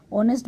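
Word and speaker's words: honest: हमने एन लगाया है ऑनेस्ट बोलते समय भी ओ की आवाज निकल रही है क्योंकि एच लिखा है लेकिन एच साइलेंट है इसलिए एन लगा देंगे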